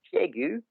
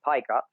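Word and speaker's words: Piégut: Just north of Nontron is a town called Piegu, which is spelled like pie gut, which is most people mispronounce it.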